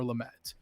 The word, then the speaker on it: Lamet: The rare cards are Garrett Cole, Ronald Acuna Jr., and Dinelson Lamet. Did I say that right? I'm so bad at pronouncing names.